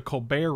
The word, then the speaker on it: Colbert: which is a playoff the colbert rapport with the silent t so it was just